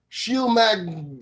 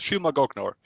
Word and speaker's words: Shylmagoghnar: right here we go the band is sheil magner almost exactly right it's shilma goknower yeah right i'm gonna